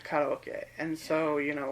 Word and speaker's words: karaoke: Like, if I say karaoke, nobody knows what I mean. But if you say karaoke, they do. Oh, yeah. So, yeah. That's how they pronounce it in Japanese, it's karaoke.